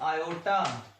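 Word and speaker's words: iota: इसमें ओ साइलेंट है बेटे, आप सीधा रनिंग वे में आयोटा पढ़ेंगे, ठीक है बेटे।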